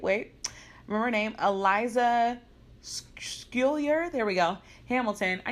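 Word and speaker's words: Schuyler: on Eliza wait wait we were named Eliza skill yer there we go Hamilton I need to go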